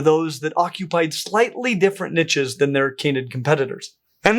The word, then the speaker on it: niche: of the word niche, it was the only pronunciation of the word in English until recently when people decided to French it up.